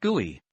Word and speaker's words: GUI: systems use a graphical user interface or gui pronounced gui a gui lets you use your mouse to